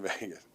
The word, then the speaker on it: Vegas: Nobody says I How do you say it? Vegas with a like a E, but you have like a long A.